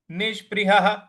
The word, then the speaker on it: निष्पृहः: देखिए यहां पे नी के आगे जो विसर्ग लगा हुआ है उसका भी उच्चारण स ही होगा। तो ये हो जाएगा निष्पृहः निष्पृहः। और ह के बाद जो विसर्ग है उसका उच्चारण हमें आगे जो स लगा हुआ है उसके साथ जोड़ देना है।